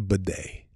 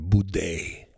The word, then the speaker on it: bidet: It's a bidet. A bidet. Bidet, not a boudet.